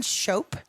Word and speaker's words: Shope: all right so Shope I always remember that because it rhymes with hope and that's part of